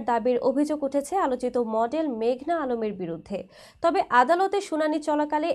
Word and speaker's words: মেঘনা আলম: এই সময় উচ্চ আদালতে নিজের নাম ভুল উচ্চারণ করায় প্রতিবাদ জানিয়ে মেঘনা বলেন, আমার নাম মেঘনা আলম। মেঘলা নয়।